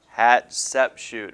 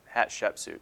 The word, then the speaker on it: Hatshepsut: first great female ruler hat Sepp shoot alright so or hatshepsut there we go pronunciation may be off of the way they